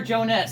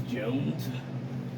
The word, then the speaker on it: Jones: what oh hell so Victor Jonas I presume first of all it is Jones I love to miss